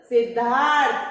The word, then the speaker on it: सिद्धार्थ: सिद्ध धा, पहले जिसपे ये र लगा हुआ है उसके पहले उसका उच्चारण करते हैं। थ से थन पे र लगा हुआ है तो थ से थन के पहले र का उच्चारण करेंगे।